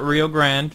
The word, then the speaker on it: Rio Grande: nose - Rio Grande call it Rio Grande because the e is silent just same running Western